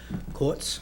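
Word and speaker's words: Korteses: what's Tim's last name courts it's k-o-r-t-e-s-e-s yeah yes yes but pronounced like quartz and lastly uh Alex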